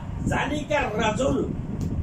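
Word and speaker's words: ذلك الرسول: রাসূল জালিকার জালিকার রাসূল এই রটা হরফে শামসিয়া কাজেই লামের উচ্চারণ হবে না জালিকার রাসূল এমনিই পড়তে সময় জালিকার রাসূল মুয়াজ্জিনুন ওই লোকটি মুয়াজ্জিন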